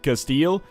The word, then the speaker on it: Castile: We formed the nation of Spain militarily, which has caused us all sorts of benefits, like making it much easier to pronounce for me as versus the standard Castile.